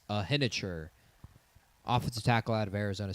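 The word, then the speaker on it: Iheanachor: Uh and then JP Jerome Bettis said his name wrong. It's Max Ahener, offensive tackle out of Arizona State.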